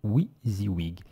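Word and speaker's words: WYSIWYG: s IW y g donc prononcé oui the wig la traduction de what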